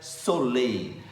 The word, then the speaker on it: Sole: pode preparar o solei se escreve s o l e mas se pronuncia solei solei é uma solução